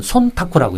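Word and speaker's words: 忖度: 근데 일본 말로는 손타코라고 읽어요.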